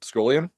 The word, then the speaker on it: Scullion: Yeah, I guess I should have asked you how to pronounce the the last name since I've never asked you that before. Is it Scoolian?